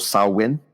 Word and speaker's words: Samhain: And then you have where we are now, which is called Samhain. It's spelt like Sam Hain. It's a weird spelling, but it's called Samhain.